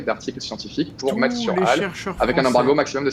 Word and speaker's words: HAL: Donc si on prononce en anglais, on dit souvent HAL, mais bon voilà. En français, le H est très muet. Le HAL, c'est vraiment extraordinaire en